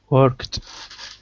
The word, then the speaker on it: worked: or is it worked what's the pronunciation there worked right worked the t sound i have worked all